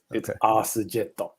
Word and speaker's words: Earth Jet: Yeah, it's Arse Jetto, which is it's supposed to be Earth Jet, okay. But it's pronounced Arse Jet, which will never not be funny for me.